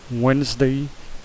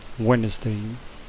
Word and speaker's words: Wednesday: Depois Tuesday, Wednesday. Esse D ele não pronuncia, Wednesday.